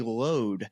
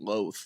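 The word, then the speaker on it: Louth: then uh County County load is how they the caddies pronounce it to me but I was count pronouncing it loath so there's there's an Irish version an American version how you say it but I just want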